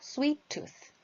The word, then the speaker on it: sweet tooth: 여기 T가 두 개가 있죠. 영이어서 두 개가 있기 때문에 sweet tooth 이렇게 따로따로 하시기보다는 그냥 하나라고 생각을 하시고 발음을 해주시면 훨씬 더 natural하게 들립니다. 자연스럽게 들려요. 그래서 sweet tooth.